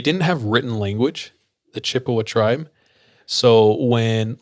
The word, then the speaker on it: Chippewa: americans i'm going to do my best to pronounce it but it's c h i p p e w a chippewa chippewa chippewa chippewa is one of the